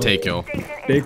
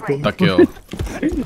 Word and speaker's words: Dakil: Not Takil. Dakil.